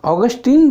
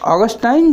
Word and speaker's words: Augustine: तो वहाँ पर ऑगस्टीन जो हैं, ऑगस्टीन जिस प्रकार आप इसको प्रोनाउंस करें, तो ऑगस्टाइन जो है वह कहते